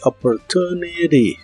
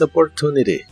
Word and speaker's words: opportunity: La última T de opportunity en inglés americano se suele pronunciar como R. This opportunity, this opportunity.